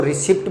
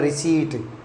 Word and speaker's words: receipt: अपन generally इसको रिसिप्ट बोलते हैं, लेकिन इसका रियल प्रोनाउंसिएशन होता है रिसीट। Real pronunciation रिसीट। इसमें पी जो है वो वर्ड साइलेंट रहता है।